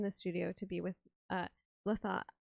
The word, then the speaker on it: Latha: We're here very excited in the studio to be with Latha. I keep saying it wrong, but Latha's right.